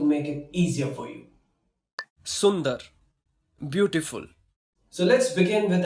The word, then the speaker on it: सुंदर: Yes, so today I'm going to tell you how you can pronounce these hard words, and don't worry, I'm going to make it easier for you. Sundar, beautiful.